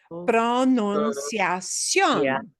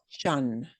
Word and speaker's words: pronunciación: Pronunciación. Pronunciación. Pronunciación. Pronunciación. That last, ooh, esta parte. This part is the stinker. It's the bad one because your brain desperately wants to say shun.